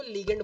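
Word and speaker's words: ligand: हैं सारे ग्रुप्स, उनको लिगेंड बोला जाता है। ठीक ठीक है, लिगेंड बोल लो, लाइगेंड बोल लो, ठीक है, आपकी अपनी प्रोनाउंसिएशन पे डिपेंड करता है, ठीक है।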